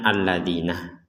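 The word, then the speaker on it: الَّذِينَ: sini ada kata allina Padahal di atasnya Alif ini di atasnya Alif tidak ada harakat fathah tapi bagi kita yang sudah terbiasa melihat kata ini kita akan mengucapkan alladzina itu kalau kita menggunakan hukum kebiasaan tapi kalau kita menggunakan hukum tajwid maka Alif ini memang sengaja di dalam Quran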